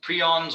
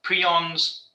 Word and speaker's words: prion: of the lecture um now moving on to prions or and it's it's this is actually pronounced prion because there are it's quite a